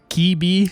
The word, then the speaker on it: Kibe: I think we've got a hint here, Cole, on how to pronounce Kibe. It rhymes with MVP. Kibi.